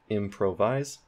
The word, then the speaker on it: improvise: put primary stress there improvise improvise improvise the main stress is at the beginning of the word for M on that